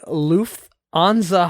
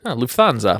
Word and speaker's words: Lufthansa: go daniels number five oh yeah i can't pronounce it but it's the luff anza heist lufthansa lufthansa is the aircraft yes major major air